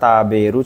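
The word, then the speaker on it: 食べる: kanjabu ya kanji makan taberu cuman enggak engde juga ketemunya ya salah bentuknya salah kanjinya benar kanji makan Tapi bacanya bukan engde taberu nomor ini kanji Ai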